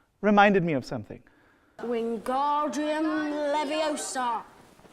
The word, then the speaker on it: Leviosa: me of something Wingardium Leviosa stop stop stop you're going to take someone's eye besides you're saying it wrong it's Leviosa not live yo sod you do it then